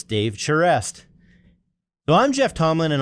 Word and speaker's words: Charest: record it and so with the proper Bostonian pronunciation it's Dave chere so I'm Jeff Tomlin